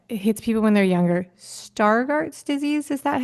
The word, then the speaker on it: Stargardt: Immaculate degeneration that hits people when they're younger star Garts disease is that how you say it okay it's spelled it's spelled s t a r g a r DTS okay star Garts and when and you were 10 and one